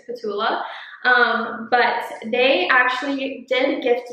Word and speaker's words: P'Tula: It is spelled P'Tula. I'm pretty sure it's Petula.